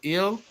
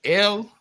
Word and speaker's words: El: I clearly said I clearly said in the Ugarit. It's pronounced Il. It's spelled Aleph Lamed. In the Hebrew, it's pronounced El.